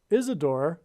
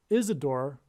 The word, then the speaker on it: Isidor: it is said that Isadore sorry it's probably pronounced Isidore it is said that